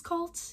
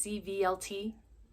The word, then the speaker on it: Cvlt: I think it's Cult. It's Cvlt. You can let me know down in the description if I'm saying it wrong.